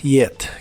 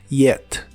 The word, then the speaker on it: yet: y usaremos la palabra yet que significa ya en preguntas o ideas negativas la y se pronuncia como una i muy suave yet yet y es hora de